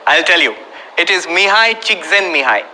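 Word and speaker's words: Mihaly Csikszentmihalyi: If you learn how to spell the name and pronounce it, I'll tell you. It is Mihai Csikszentmihalyi. Mihai Csikszentmihalyi.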